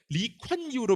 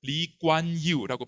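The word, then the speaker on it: Lee Kuan Yew: 이겁니다 이광교 싱가포르의 국보죠 이광요인데 리콴유로 표기한 건 잘못됩니다 이광교 본인이 자기의 이름을 리관유라고 발음합니다 k는 무기음입니다 하지만 한국에서 영어의 발음 습관대로 이렇게 관으로 잘못 표기한 겁니다 실제로 현지 표기에서는 유기음은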